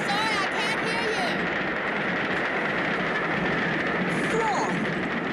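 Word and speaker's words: Froy: Freud rhymes with joy. Oh, Freud!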